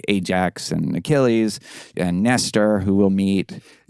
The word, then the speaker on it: Achilles: The CH is... Achilles. So get your Hebrew chops going.